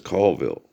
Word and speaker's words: Colville: But the proper pronunciation is Colville.